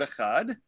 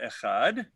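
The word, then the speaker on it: אחד: One should also extend the pronunciation of the letter Dalet of the word Echad.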